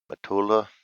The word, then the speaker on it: Matula: ninth for the braves would be rick matula matula that's right how you pronounce that and that brings us to the